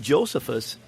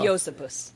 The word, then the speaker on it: Josephus: It's Josephus. It's Flavius Josephus. Okay, so in Latin, the J is pronounced like an I.